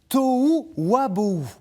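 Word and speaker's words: תֹהוּ וָבֹהוּ: Voilà, on l'a notre touu qui était écrit et prononcé en hébreu biblique, tou wabou.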